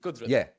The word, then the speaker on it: Kudrat: would say, Jared, it's Kudrat Ka Nizam. Did I get that right? Yeah. Yes. Pronounce it with a K. It's easy. Kudrat.